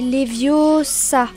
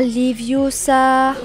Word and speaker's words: Leviosa: Et puis d'ailleurs, tu ne sais même pas le prononcer. C'est Leviosa et pas Leviosa.